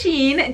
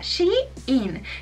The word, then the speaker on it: Shein: Entonces realmente no sabía muy bien cómo decirlo, pero en realidad se pronuncia Shein, que sería como ella está in, así como ella in, ella buena vibra.